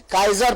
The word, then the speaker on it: Kaiser: और केसरे हिंद जमीन, जैसा कि आपने खुद भी बताया, ये एक्चुअली अंग्रेजी के KAISER शब्द से आया है, जिसे लैटिन अमेरिकी भाषा में काइजर प्रोनाउंस करते हैं, और काइजर का